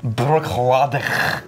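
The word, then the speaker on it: Bruichladdich: distillery team over at brooklotti i think they pronounce it brookhlove that's accurate it's one of the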